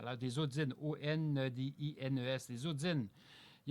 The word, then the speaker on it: ondines: Des odines, O-N-D-I-N-E-S, des odines. Il y a aussi des néréides. Je ne prononce B, N-E-R-E-I-D-E, des néréides.